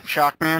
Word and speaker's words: Shockman: This is how it's spelled. Shubibin Man. Yeah. So, Shabootin Man. Shaboodin? Shaboodin Man. Shaboon? It's Shockman. Shockman.